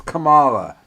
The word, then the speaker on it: Kamala: She's trying to mispronounce her black name without being black. It's Kamala.